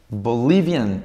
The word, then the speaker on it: Bolivian: Bolivian no pierde el acento, queda, me refiero al